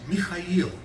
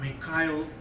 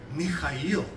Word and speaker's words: Mikhail: is in Russian is Mikhail okay same name as Gorbachev his name is not me Kyle Gorbachev no me Kyle that is not Russian Mikhail see Americans cannot pronounce